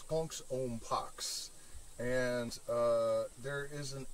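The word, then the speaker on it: Konx Om Pax: with the sanskrit words kensha ampaksha the elements included the clashing of symbols tension and a certain degree of debilitation um that was a mispronunciation it's punk's own pox and uh there is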